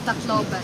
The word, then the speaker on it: Tacloban: No, that's wrong spelling, but it's Tacloban.